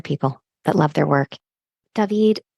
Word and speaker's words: Daveeed: to my name, because my name is David, but in Spanish it's David. So since I moved here to the United States, I've been called David, and going back to David was impossible. All to say that I spell my name Daveee with three E's, just so that it sounds phonetically.